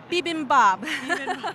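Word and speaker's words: bibimbap: food service people today so how do you pronounce it again bibimbab yes it's a very colorful dish and you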